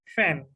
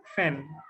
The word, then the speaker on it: feign: Fan. G is silent. Fan.